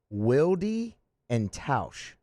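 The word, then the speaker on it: Wilde & Tausch: the name of this radio show please it's pronounced wildy and taush wildie and tausch wieldian tauscher um just a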